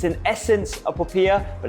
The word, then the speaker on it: popiah: How would you pronounce it, first of all? Popiah.